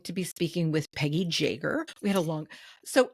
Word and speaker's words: Jaeger: name is spelt jer, which in German is pronounced Jerger, which I had a dog.